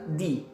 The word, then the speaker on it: the: Nah, kalau the dibacanya di, itu ketika setelah kata the huruf depannya huruf hidup atau huruf vowel, yaitu huruf A, I, U, E, O. Jadi bacanya di.